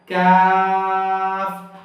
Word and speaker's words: ق: থাকলে কি কফ হয়, কফ। তো কফটা আমরা একটু টেনে বলবো, কফ বলবো না কাফ। কাফ বললে মধ্যখান পেছানো ছোট কাফটা হয়ে যাবে।